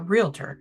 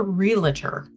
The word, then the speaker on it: realtor: Nor am I a realtor. So, and while we're here to sound educated and important, you pronounce that word realtor. It is not a realer.